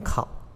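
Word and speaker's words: 丂: 这几个，这个字念成考，丁也是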